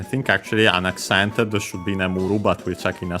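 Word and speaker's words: 眠る: I think actually unaccented should be nemuru, but we'll check in a second. So then also this will become unaccented. But let's check. Nemuru means to sleep. Yeah, unaccented.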